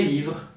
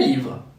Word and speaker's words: livres: Or les livres and les tables, plural. The final S is silent in French, so we need the article les to understand we're talking about several things.